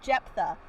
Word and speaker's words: Jephthah: a and and i said how do you pronounce that she goes jephthah biblically speaking though it would be spelled j